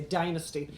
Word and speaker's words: Dynasty: John James, you'll remember, was Jeff Colby in Dynasty, or as you Americans say, Dynasty, yes.